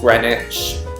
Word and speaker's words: Greenwich: British place names like Greenwich is pronounced Greenwich the sester suffix is